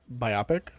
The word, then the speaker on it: biopic: upcoming guy fury pornographic biopic welcome to pleasure town kay Spitzer you know the vibes let's get to it I believe it's pronounced biopic we're gonna do this